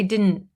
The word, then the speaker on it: didn't: So a lot of the times when we say didn't, we don't pronounce it very clearly. I didn't realize. I didn't realize. The T kind of fades away.